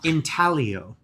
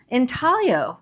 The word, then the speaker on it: intaglio: The G is silent. Like lasagna.